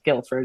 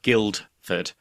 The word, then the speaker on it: Guildford: the same way but because the D the first D is essentially silent I was listening to an audio book a while ago and the narrator clearly didn't know the pronunciation so throughout this entire book she said Guildford when never she spoke about Guilford Dudley and it was so distracting so I did think